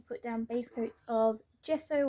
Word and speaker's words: gesso: down base coats of gesso or jiso about how i'm not sure how everyone else pronounces it but i've heard mariah elizabeth call it gesso pastel calls it g so i mean to me gesso just sounds right but it's a personal opinion it's not a certainty